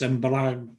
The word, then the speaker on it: embrague: So, freno is the brakes, embrague is clutch. Don't forget when we get G-U-E, the U isn't sounded. It just hardens the G, so it's a hard G.